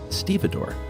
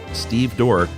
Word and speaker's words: stevedore: Um I thought it was funny and ironic when you two had a disagreement over the pronunciation of stevedore during listener mail.